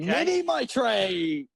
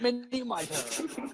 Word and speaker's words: Mini Mitre: Mini Mitre, not Mini Mitre.